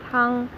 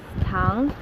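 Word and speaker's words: 汤: um tone wrong and if you want to have soup tongue and you pronounce this tang and they will give you sugar instead of soup so that's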